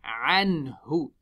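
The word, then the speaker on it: عنه: We smile on the ayn and noon. Ha has a dhamma. We make the lips round.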